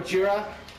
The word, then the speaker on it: Gojira: No, in Japan they call him Gojira.